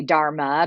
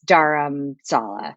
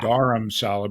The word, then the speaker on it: Dharamsala: daram so I think most people they say Dharma because that's what right the dog the dog yeah so but it's daram Salah yeah daram Salah but you know I but don't worry about